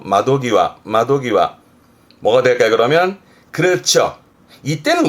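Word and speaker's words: 窓際: 발음은 마도기와, 요때는 땡땡 붙어서 마도기와.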